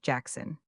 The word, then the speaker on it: BZJXXLLWEP: The common Welsh name BZJXXLLWEP is pronounced Jackson.